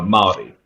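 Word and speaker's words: Māori: um at first but the word is is pronounced uh a maori it's it's with a with a longer with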